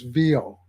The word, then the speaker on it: Veo: Gemini uses VO. And VO is spelled VEO.